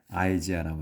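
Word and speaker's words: Isaiah: 이사야 이제 우리는 이사야라고 하는데 영어로 이제 할 때는 아이지아라고 합니다.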